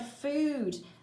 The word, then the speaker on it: food: Rome and the word food it rhymes with rude mood prude chewed and dude all these different spellings